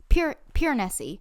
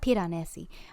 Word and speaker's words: Piranesi: So, book of the week, Piranesi. Why do I say everything with an accent? Piranesi, not Piranesi.